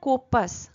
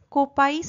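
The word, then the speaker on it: coppice: lend আপন কোপাস gate উচ্চারণটা কোপাস কোপাইস নয় কিন্তু কোপাস বলতে একটা ছোট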